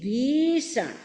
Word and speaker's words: भीषण: एक शब्द को धीरेधीरे हम दो तीन बार उच्चारण करेंगे उद्भूत उद्भूत उ बड़ा है उद्भूत भी में इ बड़ी है भीषण उद्भूत भीषण जलोदर भार भग उद्भूत भीषण जलोदर